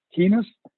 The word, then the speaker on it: heinous: H-E-I-N-O-U-S, if I pronounced it correct. Heinous or highness?